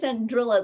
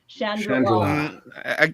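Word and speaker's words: Chandrila: I've been saying Chandrilla the whole time, but apparently it rhymes with Shangri-La. Chandrilla.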